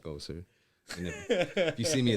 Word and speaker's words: EKOSR: it used to be Echoes, but I added the R for get a little fancy. There you go. It's EKOSR.